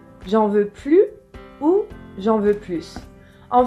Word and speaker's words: plus: suite notre délicieuse recette qu'en l'adverbe plus un sens négatif c'est-à-dire qu'il exprime une négation on ne prononce pas le s le s est mué par exemple carole